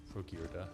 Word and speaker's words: Frogirda: Pronouncing the A at the end if they're Nord. Frogirda.